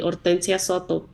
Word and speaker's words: Hortensia: a long pause and she said it perfectly Oria and I loved her that second awesome and